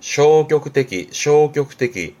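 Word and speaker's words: 消極的: 발음은 쇼격떼기.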